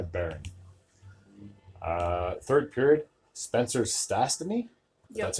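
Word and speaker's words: Stastny: Season assisted by Baron uh third period Spencer stasy that's how you say his name would get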